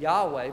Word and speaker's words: Yahweh: Now, we often pronounce that name Yahweh, but we really don't know how to pronounce it because it's represented in most translations by the word Lord in all capital letters.